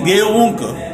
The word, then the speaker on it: geunk: It is geunk. And what is ge, a, and u is together. They do not form a diphthong. Yeah. Because both a and u are wow. not coming in one syllable.